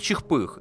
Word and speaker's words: Чихпых: Кстати, канал читается не как, а как Чихпых, и отсылка здесь прямая к одному известному медведю, озвученному в Гоблине много-много лет назад.